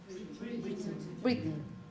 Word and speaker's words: Britain: Okay, and the name of a country? Britain, Britain, Britain, Britain. Yeah, but anyway, the stressed syllable, first one, Britain.